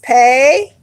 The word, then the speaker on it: Pe: Now, if you are researching the word, it may be written like this: pay or pay or pay.